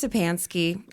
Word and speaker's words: Szczepanski: difficult um you know it's just sansky very very easy and um when in